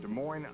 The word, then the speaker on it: Des Moines: Um our booking department tracked him down in Des Moines, Iowa. The S is silent.